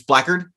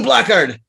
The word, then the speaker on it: blackguard: the the uh it's it's spelled black guard but it's blackered uh you'll often hear like an english person say like you blackard it's blackguard and so the idea